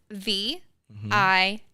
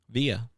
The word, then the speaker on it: Via: V I A Via. It was VI, but I was called Via my whole life.